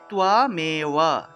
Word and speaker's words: ত্বমেব: তাহলে তামে ওয়া উচ্চারণ হবে তুয়া মে ওয়া, তুয়াম এ ওয়া বা তুয়া মে বা। উচ্চারণ হবে তুয়ামেওয়া মাতা আচ পিতা তুয়ামেওয়া তুয়ামেওয়া, এইভাবে তুয়া উচ্চারণ হবে।